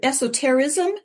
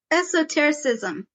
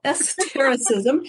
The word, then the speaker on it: esotericism: interested in Mormon esoteric is it esoterism is that am I pronouncing that right esotericism I missed a syllable esotericism she published um a